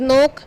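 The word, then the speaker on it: knock: बोला जाता है और नोख एक रेगुलर वर्जन है इसमें के साइलेंट है इन्हें हिंदी में हम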